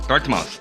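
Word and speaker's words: Dartmouth: 1위는 바로 아이비리그로 유명한 다트모스 대학교입니다. 영어 발음으로는 다트머스.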